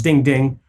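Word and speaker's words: 钉钉: And then they also have DingTalk, which they interestingly pronounce Ding Ding, which is an app that provides services like text messaging and voicemail, things along those lines.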